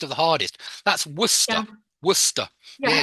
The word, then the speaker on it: Worcester: the hardest that's wora Worcester yeah it's not Worchester or anything like that it's Worcester gler Shear is like